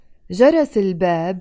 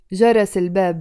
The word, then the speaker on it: جرس الباب: We pronounce it together with a liaison.